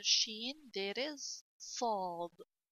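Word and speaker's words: صاد: letter sheen, there is sad. See, sad is a big seen. Sa, saw. Okay? Sad is a big seen. When you pronounce seen deeply, you will get saw. When you pronounce sa deeply, you will get saw.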